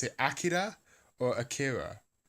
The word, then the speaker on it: Akira: But it's as I understand it, the Japanese is Akira, right, with the stress on the first syllable and the trill on the R.